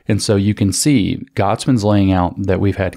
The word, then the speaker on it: Gottesman: Education that's written by a guy named Isaac Gottesman. I think that's how you pronounce his last name, G-O-T-T-E-S-M-A-N, Gottesman.